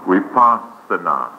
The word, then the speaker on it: Vipassana: The word vi is pronounced as we, and in all Indian languages, the alphabet V is pronounced as we, right? So we Vipassana.